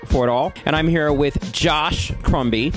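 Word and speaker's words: Jash: and I'm here with Josh Crumby. It's spelled what, J-A-S-H? It is spelled J-A-S-H. But it's pronounced Josh.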